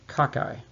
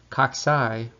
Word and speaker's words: cocci: pleural would be cocci occasionally i hear students refer to cocci by pronouncing it kakai but kakai would refer to it's an informal word for crooked kaksai would be much more readily understood by people who are listening or speaking about microbiology in the right hand